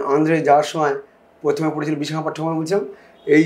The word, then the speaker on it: বিশাখাপট্টনম: যাওয়ার সময় প্রথমে পড়েছিল বিশাখাপট্টনম, বলছিলাম এই যে সেই জায়গাটা বিশাখা না, বিশখা না, আকার না, বিশাখা সংস্কৃত শব্দ, পাত্তানাম সব জায়গায় ম উচ্চারণ হয়।